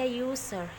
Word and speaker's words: user: Seperti ini kan tulisannya user, tapi dibaca user. Jadi u ini bunyinya seperti huruf konsonan, yaitu huruf y. Jadi dibacanya user.